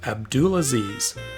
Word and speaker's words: Abdul Aziz: let me introduce you to Abdul Aziz which as you can see here rhymes with a pool of bees he demonstrates great editing